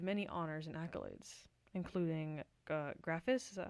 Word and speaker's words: Graphis: and you've received many honors and accolades, including Graphis, is that how you pronounce that? Graphis, Yeah.